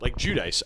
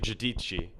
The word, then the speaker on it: Giudice: Like Judice. I remember it was Gudis, and I'm like, I don't think that's like it looks phonetically like Judice, and it is, but it's actually Giudice in like Italian.